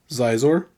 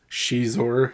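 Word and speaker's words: Xizor: vile leader of black Sun the fine Prince zizor or I guess Shor as it's supposed to be pronounced but I prefer zizor so that's how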